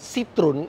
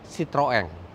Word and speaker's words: Citroën: Oke, sebelum saya lebih lanjut tentang mobil ini, sebenarnya penyebutan Citroen itu bukan penyebutan yang paling benar. Karena kalau menurut bahasa Prancisnya, Citroen itu dipronounce sebagai Citroën. Citroën.